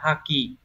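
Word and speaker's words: 破棄: Thì chữ phá này chắc chắn sẽ đọc là ha. Chúng ta sẽ loại trừ được ngay phương án số 2 là hai này, không phải này. 4 là hô cũng không phải. Đấy, vậy chỉ còn là một hay là ba thôi. Đằng sau là chữ khí sẽ đọc là ki đúng không? Như vậy sẽ là haki.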